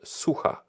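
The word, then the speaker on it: Sucha: castle and it is in a town called suha which means dry okay right so about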